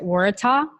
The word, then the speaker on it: Waratah: flower behind you which is that would you pronounce it Waratah yeah perfect pronunciation and it's actually the the